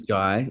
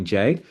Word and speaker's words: Jai: Uh, my name is Jai. If you don't know who I am, and it rhymes with Sky for all my friends in the US that call me Jay. It's Jai like Sky J.